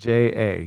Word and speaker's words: Ouija: like the Ouija board? Right? Ouija. Yes. Ouija. Ouija, like a Ouija board.